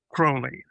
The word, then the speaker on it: Crowley: Crowley pronounced pronounced it himself. Crowley like the bird. And he said it rhymes with holy.